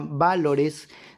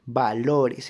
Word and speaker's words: valores: Porque la palabra no se pronuncia valores, ni tampoco se pronuncia valores, se pronuncia valores. Entonces ahí estamos sombreando la sílaba LO.